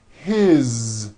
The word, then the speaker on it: his: good here that is his same thing it also has a voiced Z ending his mom is married